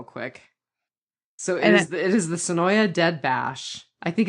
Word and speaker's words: Senoia: So it is the Sonoya Dead Bash. I think it's actually Sonoy. It looks like it should be pronounced Sonoya, but it's actually Sonoy.